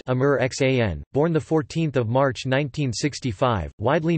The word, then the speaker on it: Aamir Khan: Muhammad Aamir Hussain Khan, pronounced Amir Xan, born 14 March 1965, widely known as Aamir Khan, is an Indian film actor, filmmaker and television talk show host.